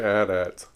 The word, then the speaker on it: AT-AT: Hoth, these giant AT-ATs and this big battle and stuff. Why aren't they AT-ATs?